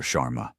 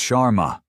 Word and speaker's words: Sharma: Chararma." He butchers the pronunciation of her name. Another small deliberate cut. "It's Sharma."